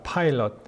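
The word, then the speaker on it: Pilate: 여러분이 빌라도의 발음은요, 파일럿입니다. 파일럿. 마치 조종사 그 파이로트 있죠? 이 파일럿입니다.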